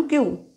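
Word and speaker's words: queue: क्य म रांग मन क्य डू नॉट ब्रेक और जंप द क्यू क्य यू ई यू ई क्य जरी उच्चार क्य असेल तर नुसता क्य काढला की झाल अस नहीं येते स्पेलिंग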